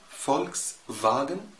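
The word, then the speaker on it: Volkswagen: فولكس فاجن يعني سيارة الشعب.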